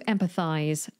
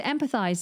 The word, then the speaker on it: empathize: To empathize. In American English, this is spelt with a Z. In British English, this is spelt with an S, but still pronounced like a Z. So to empathize, this is a verb